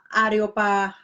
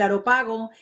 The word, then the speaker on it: Areópago: Entonces los filósofos lo llevaron ¿cómo se pronuncia? Areópago.